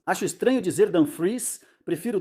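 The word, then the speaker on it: Dumfries: Dan Fre disse que, aliás, dizem que se pronuncia Dom Fries. Até ele mesmo, acho já falou isso. Acho estranho dizer Dan Freeze.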